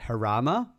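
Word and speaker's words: Jarama: It's at Harama, right? It's pronounced that way.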